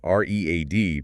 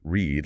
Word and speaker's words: read: The spelling remains the same, R-E-A-D, but the pronunciation changes completely. In the present, it's read, read, like the sound of a reed. In the past, it's read, read, like the color red.